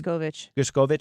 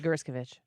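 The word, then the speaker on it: Gershkovich: But then you look at Evan, how do you say his last name again? Gerskovich. That's what I'm saying this hour. Next hour to be Gerskovich.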